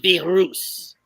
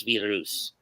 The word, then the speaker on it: Virus: Pronounce Virus. Virus. But it says Virus. I just call it that. Well, he is a luchador, so you have to use the Spanish pronunciation.